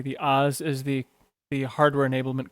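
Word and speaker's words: AHS: I remember correctly the Oz is the the hardware enablement kernel yeah we advance Hardware support but we pronounce it like Wizard of Oz so us and um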